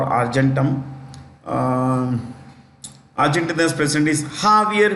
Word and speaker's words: Javier: Argentina uh or argentum um arent president is jaier m spelled j a v i e r Javier is the spelling but pronunciation is jaier j a v i e r Javier m